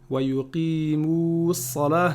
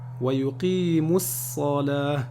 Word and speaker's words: ويقيموا الصلاة: ويقيموا الصلاة, c'est pas bon. ويقيموا الصلاة. Le waw ici, il est écrit, mais il n'est pas prononcé.